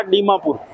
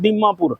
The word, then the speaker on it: डिमापुर: long time बाद में इसका नाम हो गया डी मापुर ठीक है उच्चारण में अभी जैसे कुछ लोग बोलते हैं दीमापुर ठीक है यह हो